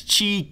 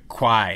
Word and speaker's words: Qi: into Nexus 4 that's Chi Qi not qu or Qui it's pronounced Chi we got to look